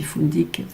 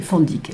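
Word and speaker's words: fundique: ça s'écrit fundic, F-U-N-D-I-Q-U-E, on dit fundic, fundic, comme vous voulez, fondic la plupart du temps, peu importe.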